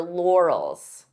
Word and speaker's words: laurels: This could be a hard word to pronounce depending on your native language because we have an R and an L. Lor-els. Lor-els. So divide the sounds until you're comfortable with each sound. Lor-els. And then you can pronounce it as one.